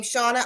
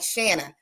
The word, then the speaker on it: Shauna: i see your name i wanna read it phonetically instead of say your name shauna i'm like shanna i can't read it